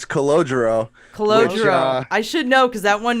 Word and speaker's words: Calogero: Calogero. Oh, it's the best. I have to say it again. How do you say it? Calogero. Yeah. So Calogero has a channel, Where We Go When We